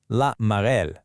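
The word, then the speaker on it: la marelle: Listen to that pronunciation again. Cash cash. Then there's laarel or hopscotch. Say it out loud. La marel.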